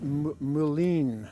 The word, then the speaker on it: mullein: This is, I pronounce it mullein, M-U-L-L-E-I-N.